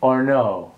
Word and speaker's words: Ornot: Now this is a company, I think it's French, Ornot. The T is silent.